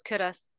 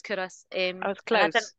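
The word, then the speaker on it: Culross: for yeah you're right it's curus it's spelled Ross but it's curus didn't learn that until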